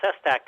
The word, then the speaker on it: Sestak: And Sestak is spelled S like the first letter in Sam, Sestak. Sest like tree, AK.